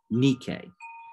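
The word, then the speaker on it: Νίκη: word nike is interesting it's actually a mispronunciation of the greek word nikkei which means victory and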